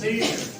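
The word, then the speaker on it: build: Example, आप एक word लिखते हो बिल्ड, या एक वर्ड आप लिखते हो गार्ड, इसमें अगर आप देखें तो यू को भी प्रोनाउंस नहीं किया जा रहा, सिर्फ और सिर्फ लिखा जा रहा है।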